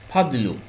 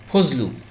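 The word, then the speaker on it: فضل: ফা দ এবং লাম ফাদলু এটা কিন্তু আমরা বাংলায় কি বলি ভাই ফজলু আমরা অনেকে নাম বলি ফজলুর রহমান ফজলু আরবিতে ফাদলুটা বাংলায় হয়ে গেল ফজলু বুঝতে পেরেছেন দোয়াকে আমরা কিন্তু জ হিসেবে উচ্চারণ করি আশা করি বুঝতে পেরেছেন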